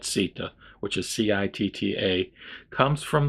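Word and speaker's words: citta: So he goes on to say, Sita, that's probably actually pronounced Chitta, but I'm pronouncing it Sita, which is C-I-T-T-A, comes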